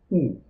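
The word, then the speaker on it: où: dalam Bahasa Perancis adalah Ungu Hai uh pengucapannya sama seperti pengucapan huruf u dalam bahasa Indonesia tulisannya Opi dan ibunya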